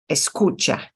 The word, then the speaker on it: escucha: Camina Camina um yeah second to last syllable ah okay so our endocyble is cha but it's escucha escucha okay again I'm really